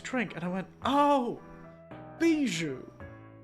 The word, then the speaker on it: Bijou: And I know that the big HoloLive Vtuber, Bijou, is... I think it's... How do you spell jewel in French? How do you say it? Bijou.